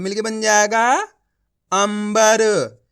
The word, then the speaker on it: अंबर: तो मिलके बन जाएगा अंबर यहां पर अपन ने आधा मा का उच्चारण करा है कैसे पढ़ा है इस तरीके से पढ़ा है अंबर कितने लोगों ने सही